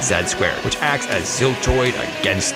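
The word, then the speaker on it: Z²: the sequel to Ziltoid, entitled Z2, pronounced Z-squared, which acts as Ziltoid against the world.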